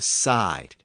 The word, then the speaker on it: side: E to I, and the pronunciation of the word shifted from seed to side. So again, from sida to seed to side.